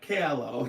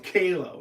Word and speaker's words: Calo: Nick Kayla right that's what it is not Calo Kayla right you sent me the pronunciation I appreciate that because I am known